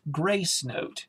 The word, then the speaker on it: Gracenote: successfully sent to the grasanote media database ok button to activate press spacebar and jaws is mispronouncing that but it's actually pronounced gracenote database um perhaps i'll